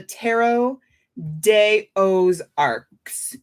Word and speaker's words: Tarot de Aux Arcs: Celtic, this deck is called the Tarot de Aux Arcs. So DEAUXARCS. I had to ask her if I was saying it correctly because I like to make sure I pronounce things right. And she said that the name is a joke because she lives in the Ozarks.